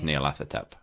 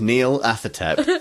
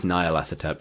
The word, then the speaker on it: Nyarlathotep: say, to the coolest Lovecraft god, which is Nyarlathotep, who is based on Neil Atherton. Neil Atherton. Is this like David Atherton or something? No, yes, his name is Neil Athertep because there's Cthulhu, Azathoth, and Neil.